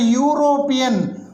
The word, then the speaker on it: European: produces a consonant sound we don't pronounce it as european or european we pronounce it as european y o u u and this e